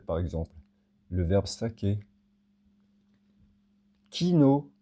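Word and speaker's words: quinaud: Kino Q U I N A U D.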